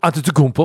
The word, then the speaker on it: Antetokounmpo: Antetokounmpo. Oh, that's a very good pronunciation.